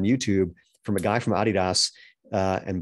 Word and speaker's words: adidas: from a guy from adidas uh and by the way i say it that way because i'm special um it's actually because that's how they say it in europe because it's that's the